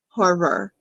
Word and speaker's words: horror: because we pronounce in in american english we pronounce more of that ending r sound horror so yeah so john